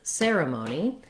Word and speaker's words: ceremony: So first of all, looking at the word ceremony, we have letter C saying S in this word.